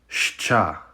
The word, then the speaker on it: Щ: This letter is pronounced shcha.